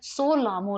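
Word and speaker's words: Tso Lhamo: लेख है वो है सो लामो लेख इसमें भी टी साइलेंट होता है और यह वर्ल्ड की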